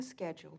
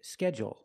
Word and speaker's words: schedule: it differently they say schedule schedule and they put the stress only on the first syllable schedule let's hear some